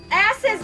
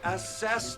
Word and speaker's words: assess: Ass is the window. Okay, stop. Stop. What? It's assess the window, not ass is the window. You put the wrong emphasis on the wrong syllable.